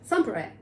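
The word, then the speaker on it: Sompayrac: Samperek.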